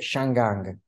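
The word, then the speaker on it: 香港: un altro modo allora loro lo pronunciano in cantonese shanggang Ecco non arrivino credo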